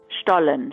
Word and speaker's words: Stollen: a couple times as Stollen, and that's because I'm not going to embarrass myself with a failed attempt at affecting a German accent. For an authentic German pronunciation, I'll leave it to Luisa. Stollen, Stollen, Stollen.